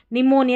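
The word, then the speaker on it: pneumonia: और जब PN से जब कोई भी स्पेलिंग शुरू होती है ना, PN से, तो भी P जो है ना वो साइलेंट रहता है, नहीं पढ़ा जाता। जैसे ये यहाँ पर P निमोनिया नहीं, निमोनिया, ये हमारे पास शुरू में आ गई थी। और ये न्यूमेटिक, निमोनिया और न्यूमेटिक, ठीक है।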